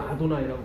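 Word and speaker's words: אֲדֹנָי: 그래서 아도나이, 요거는 이 발음이에요. 이 발음.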